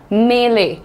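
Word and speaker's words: melee: छोटी-मोटी लड़ाई that's called a मेले। What is the pronunciation? मैं ले। मैं ले पहला मैं इज लाइट सो मे ले मेले राइट दैट्स अ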